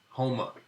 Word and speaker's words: Homer: That is a classic Sola, Nola pronunciation in ER. And if Homer was down south, that'd be Home. But really, Homa is the Sola team, and upstairs in the north, Homer is pronounced Homer.